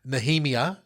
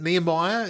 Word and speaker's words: Nehemiah: And we're going to pronounce, I've heard Nehemiah pronounced many different ways. Oh, okay. I think I've got some dear Indian brethren who pronounce it Nehemiah. Goodness me. Yeah. Okay, yeah. Well, and I've heard it different ways, but Nehemiah is well, that's just how how it's normally pronounced.